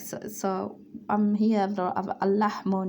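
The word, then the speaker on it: اللحم: an important point where when we say al is a sun letter, so it's gonna attach this is not pronounced the first al lam, so it's going to be attaching to the second lam lahmu.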